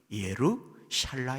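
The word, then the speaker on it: ירושלים: 야말로 예루살렘 입니다 그런데 예루살렘 이라는 적막한 히브리 발음은 예로 샤일라 입니다 샤랄라 찰나가 담수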